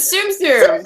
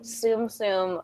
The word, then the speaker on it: Tsum Tsum: But it rhymes with a bum bum. And it's something you collect. Or is it Tsum Tsum?